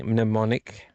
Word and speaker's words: Mnemonic: It's either going to be Soldier, Johnny Mnemonic, I said it right this time, or Blade Runner.